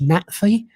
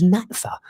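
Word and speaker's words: NATFHE: previous union uh uh it's it's pronounced NATI. Um you know, it's the lecturers union. It's the it's the union for further education. And you know, they constantly kept referring to it as Nata.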